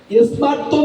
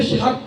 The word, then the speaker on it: স্মার্ত: স্মার্ত মতের অর্থ হচ্ছে যা স্মৃতিশাস্ত্র বিহিত মত। এই উচ্চারণটা অনেকে ভুল করে, দন্ত স্বয়ময় আকার তয় তয় দেব, স্মার্ত, এটাকে স্বার্থ বলে অনেক, এটা ভুল উচ্চারণ, ভুল ব্যাখ্যা।